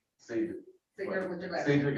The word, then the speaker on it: Cedric: Oh, see, just like I'm told my first name is pronounced Cedric, but everybody says Cedric.